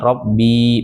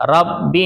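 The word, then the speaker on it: رب: Robbinya itu pendek, nggak ada ya-nya. Jadi bacanya bukan Robbi, bukan. Tapi dengerin saya ya, bismillahirrahmanirrahim. Rabbi najjini wa ahli mimma ya'malun.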